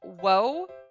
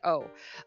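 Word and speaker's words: を: the next one is technically it's woe but you will never hear it pronounced at well okay i won't say never in some songs you sing you hear singers it's a dialectal thing using whoa but it's actually like oh um this word this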